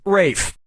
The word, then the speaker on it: Ralph: Player one, yep, Rafe Fine's first name is spelled like Ralph but pronounced Rafe.